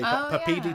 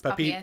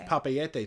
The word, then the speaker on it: Papeete: Papeete. I used to say Papiti Tahiti because I thought they rhymed. No, it's Papeete. It's Papeete Tahiti.